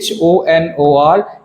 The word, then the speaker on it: honor: क्योंकि अब जब आप ऑनर को देखेंगे, HONOR, ये ओ की आवाज़ निकालता है, एच इसमें साइलेंट है। हमने कभी भी होनर नहीं बोला। We always say honor, HONOR, same as it is on the other side।